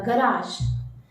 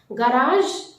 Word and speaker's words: garage: So the reason behind it, you have to stretch that first syllable little bit, but not more.